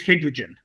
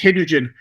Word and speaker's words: Hidrigin: Yeah, well, the company we're dealing with is it trades as Hidrigin, which is sort of just hydrogen, but lots of I's in the place of any other syllable. But it's Hidrigin, which is actually the